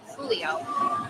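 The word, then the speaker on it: Truglio: number right here officer Tulio T Ru g l i o the g is silent Julio Shield number 1753 what's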